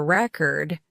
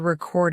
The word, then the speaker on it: record: noun or a verb, depending on where you place the stress. When you want to say, "I'm going to listen to a record," you stress the first syllable. But when you want to say, "I'm going to record a video," the stress falls on the second syllable.